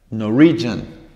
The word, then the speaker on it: Norwegian: Norway, en la primera. Norwegian, pasa a la segunda.